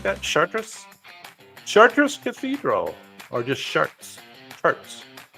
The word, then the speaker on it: Chartres: Chartres. You pronounce it like that? Chartres?